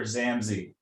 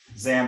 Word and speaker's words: Zammsy: behind The Chronicles of zamy and am I pronouncing it right say it for a minut it's it's called The Chronicles of Dr zamy zamy Z um I got the idea back in